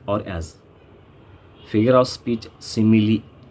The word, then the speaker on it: simile: Figure of speech, simile, not smile, simile.